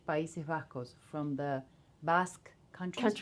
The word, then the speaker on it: País Vasco: From the How do you say País Vasco? From the Basque country. Countries. País Vasco.